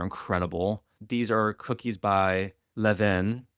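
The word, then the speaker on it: Levain: These are cookies by Levven. It's a French word.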